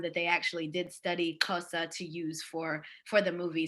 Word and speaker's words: Xhosa: we formally started, that the X in our one of our languages in Southern Africa, it's pronounced like a click in the back of your mouth, like the way that you would call horses or train horses.